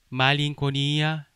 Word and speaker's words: malinconia: 그 다음에 NC 발음은 이응 발음으로 합니다. 우리의 이응 발음이에요. 응 발음으로 하셔야 돼요. 그래서 말링코니아 하지 마시고 말링코니아 이렇게 하셔야 합니다.